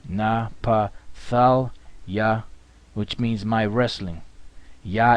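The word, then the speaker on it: Naphtali: page all right the next one is napali napala napala which means my wrestling yah is he Napal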